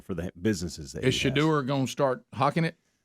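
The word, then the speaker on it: Shedeur: Shadur? That's his name. Okay. Thanks, Dad. Shadur Sanders to an NIL deal, and I didn't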